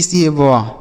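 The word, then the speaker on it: save: आगे लिखा एस ए वी ई, तो देखिए एस से पढ़ेंगे 100, ए से पढ़ेंगे ए की मात्रा, और वी से व लास्ट में ही रहेगा तो उसे नहीं पढ़ेंगे।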